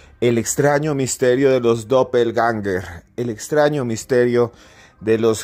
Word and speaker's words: Doppelgänger: en Cruz escribiente dopel ganger dopel genga así se pronuncia este extraño fenómeno que